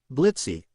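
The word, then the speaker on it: Blitzø: And anyway, the O is silent now, you iron Blitz replies, taking off his glasses.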